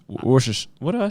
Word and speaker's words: Worcestershire: there's a couple times they probably told you you were saying it wrong the first time i said what do you say i used to say chester's worchester show chester science yeah worcestershire i say wash worcestershire what do i say